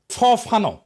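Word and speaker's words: Fanon: ফরাসি আলজেরিয়ান চিন্তাবিদ ফানো। ফানো নাম আসল উচ্চারণটা।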